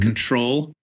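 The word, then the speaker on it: CTRL: came out it's called control you know it's spelled all fancy Style no vowels but like the control key on your keyboard you know no V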